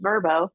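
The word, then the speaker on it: Vrbo: rental by owner now they like us to pronounce it verbo as host um but uh and then we started putting that home and then a couple of others that we had acquired into verbo did very well and then over the years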